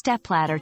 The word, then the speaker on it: stepladder: The stress is on the first syllable, step, and the second part, ladder, flows smoothly after.